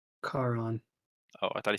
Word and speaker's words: Charon: Carl? Charon. Oh, I thought he said Carl. He says, I think that's also spelled with a C.